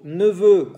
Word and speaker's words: neveux: Y en plurial, vos neveux, cuidado con X, el plurial, vos neveux, vos nièces, con S que no se dice, para sobrinas.